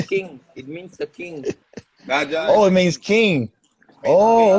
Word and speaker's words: Raja: Raja. Raja. Raja, like a Rasta man, like a Jamaican. Like a king. It means the king. Raja.